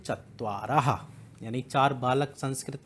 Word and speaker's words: चत्वारः: बट इनकी जो उच्चारण है, प्रोनंसिएशन है, वो ह होती है, चत्वारः।